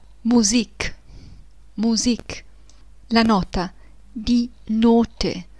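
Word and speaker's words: Musik: le parole della musica in tedesco non si legge di music ma di musique musique la nota di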